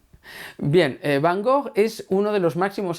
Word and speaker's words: Gogh: mismísimo vincent van gogh o como diría mi amiga a coki de jong que es de rotterdam en fin se fajó y se lo dice ella que es holandesa pues será que se pronuncia así bien van gogh es